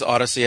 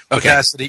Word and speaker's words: Audacity: that that was yeah it's Odyssey I use uh is it Odyssey or audacity maybe audacity audacity yeah that's it audacity I thought I've been saying it wrong all this time I